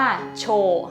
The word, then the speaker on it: 町: ตัว นี้ ก่อน เลย อ่าน แบบ องค โยมิ ว่า โช เนาะ หรือ ว่า คุง โยมิ อ่าน ว่า มาจิ นั่น เอง ก็ แปล